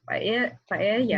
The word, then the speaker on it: paella: How do you pronounce it? Paella. The double L is Y.